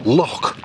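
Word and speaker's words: Lough: And in Ireland, the ancient word for a lake is L-U-G-H, which is actually pronounced loch.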